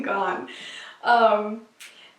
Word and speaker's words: Garn: I think you're not supposed to pronounce the R in Garn. In Gone.